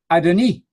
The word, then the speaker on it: Adoni: Simply tell your friends, as the International Standard Bible Encyclopedia says so clearly under the entry Lord, Adoni, as with the E sound at the end.